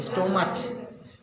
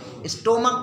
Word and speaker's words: stomach: कुछ लोग क्या बोलते हैं? स्टोमच, है ना. तो उसको रियल प्रोनाउंसिएशन क्या करेंगे आप? स्टोमक में ही नहीं, बिल्कुल हल्का सा टा होता, स्टमक.